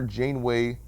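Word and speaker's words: Janeway: like burn marks so i remember jane way rhymes with ashtray like someone's been putting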